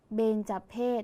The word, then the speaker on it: เบญจเพส: เบญจเพส เห็น ไหม คะ คำ ว่า เบน ออก เสียง พยัญชนะ ท้าย เหมือน น หนู ใช่ ไหม คะ แต่ ตัว สะกด ที่ ใช้ คือ ยอ ผู้ หญิง นั่น เอง และ คำ ว่า เพศ ออก เสียง พยัญชนะ ท้าย เหมือน ด เด็ก แต่ ตัว สะกด คือ ส เสือ ใช่ ไหม คะ ไป ดู